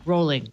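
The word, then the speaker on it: Rowling: give you that Oh rolling rhymes with bowling thank you oh I said Raoul really it's rolling okay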